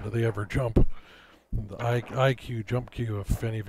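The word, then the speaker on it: IQUE: And IQ is spelled I-Q-U-E.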